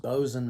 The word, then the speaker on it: boatswain: One of those individuals was a bosun. It looks like it's spelled boatswain, but it's pronounced bosun, like B-O-S-U-N.